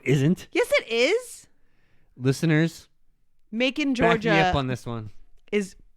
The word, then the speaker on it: Macon: come on what's making it's making georgia 100 100 100 making 100 bacon like bacon it's spelled just like bacon but with an m yep okay well uh